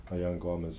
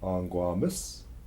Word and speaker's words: Aangwaamas: Aangwaamas in. So there's many different pronunciations also. Aangwaamas, Aangwaamas, Aangwaamas in, Aangwaamas in. And those are the different dialects.